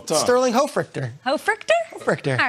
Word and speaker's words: Hofrichter: Hofrichter.